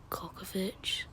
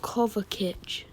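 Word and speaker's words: Kovačić: Oh, Kokovic. No, I've just found out I don't say it right. Kovacic. That's how you say it.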